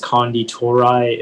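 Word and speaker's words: Konditorei: the information yeah uh the only pronunciation is kandi tourei it's a noun and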